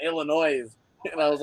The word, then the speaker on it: Illinois: But my mom, she's in Illinois, visiting my sister, and she found a set. Awesome. That's Yeah. Look, if you want to pronounce my state with an S at the end, you go right ahead, Steve.